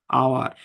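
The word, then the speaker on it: hour: যেমন উদাহরণ দিলে বুঝবেন, যেমন আই am standing here for আওয়ার। হুম, এখানে কিন্তু এটার উচ্চারণ কিন্তু হাওয়ার না, এটা উচ্চারণ কিন্তু হচ্ছে আওয়ার।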